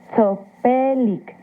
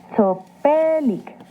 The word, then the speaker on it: sopelic: las palabras adjetivas sopelic Escuchaste la terminación sopelic recuerda que en el náhuatl Las palabras se acentúan en la penúltima sílaba sopelic muy bien Ahora ya